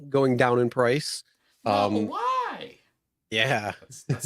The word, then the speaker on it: Model Y: Model Y. Yeah, That's how you got to say. You have to say Model Y. Model Say it like Y.